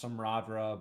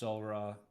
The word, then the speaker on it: Samhradh: Um the first book, uh it looks like it's pronounced Samra, but it's SRA and it just means summer.